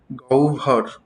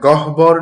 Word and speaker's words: গহ্বর: যেমন নাসিকা গৌভর উচ্চারণটা কিন্তু নাসিকা গহবর না বা গহবর নয়। উচ্চারণ কি হবে? এই হ এর উচ্চারণটা হবে ও আর ব এর উচ্চারণটা হবে ভ। বয় ভ হয়ে যাবে। তাহলে উচ্চারণটা কি হবে? নাসিকা গৌভর।